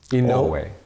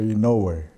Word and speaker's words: Inouye: somebody pronounces it differently if my grandfather called me it would be in norway in no way no way in no way though all the vowels are pronounced but most of my colleagues say no way in no way thanks